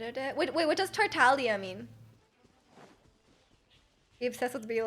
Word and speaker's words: Tartaglia: So Tartaglia. I think people don't pronounce the G. Or you're technically not supposed to pronounce the G. But they mispronounce everything in the game, so you can't trust the in-game pronunciation.